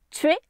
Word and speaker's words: tuer: Donc elles se trouvent dans le mot tuer qui ici se prononce tuer et dans le mot décision qui en poésie se prononce décision.